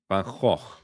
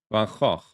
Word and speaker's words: Van Gogh: He is Dutch, isn't he? Yeah. So the correct pronunciation is Van Gogh. Van Gogh. And say that just sounds like spitting to me.